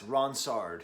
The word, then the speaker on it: Ronsard: great poetry of Pierre Ronsard. That's Ronsard, if you're pronouncing that in an English way.